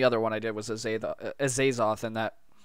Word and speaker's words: Azathoth: The first one I did, and the only other one I did was Azathoth, and that... Azathoth, I think it was. That's how you say it.